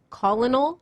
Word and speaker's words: colonel: sound and like I just learned that Colonel is spelled Colonel yeah yeah there's no art there's no r